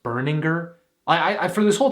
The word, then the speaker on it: Berninger: also did you know his last name is pronounced burninger i i for this whole time i thought it was bareninger my god i am i am so embarrassed